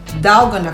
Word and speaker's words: dalgona: found out that he actually called this coffee dalgona coffee Tarragona of coffee ty gonna coffee I'm